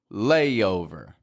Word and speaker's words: layover: up till this point then you know what I'm going to say about layover right there's another one of those y's in there layo layover layover now my favorite